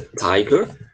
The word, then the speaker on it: tiger: Que em inglês é tiger. Tá? E vamos evitar pronunciar tiger, tá? Eu já vi muita gente pronunciando tiger, mas não é, tá? É tiger mesmo, esse i vai ter som de i, tá certo?